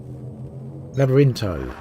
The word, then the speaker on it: Labyrinto: Let's have a look how they've pronounced it on the expedition here. Labyrinto. There we go. Which I'm told is Greek for maze.